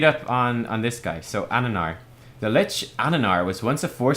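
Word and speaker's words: Amnennar: Aminar will no longer control the Quillbore. Ananar. That's how you say his name.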